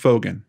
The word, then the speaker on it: Fogen: This is Paige, and it is pronounced Fogen, right? Yeah. Okay. This is Paige Fogen, Marshall's sister, and she's going to help us